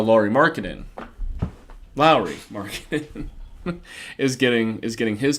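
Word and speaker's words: Lauri: Martin is still um sorry I keep calling Lori Mark and it's a Lowry marketing I feel really bad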